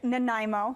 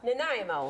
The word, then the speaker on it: Nanaimo: it girlfriend naimo bars it's a Canadian dish sounds like a stutter say it again Nanaimo Nanaimo you don't have to